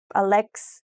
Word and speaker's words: Alex: to say hi and the Portuguese pronunciation of Alex's name Alex do you remember how